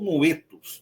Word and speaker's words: Noeto: sua concepção teológica foi Noeto de Esmirna, ou Noetos, né, como também é pronunciado.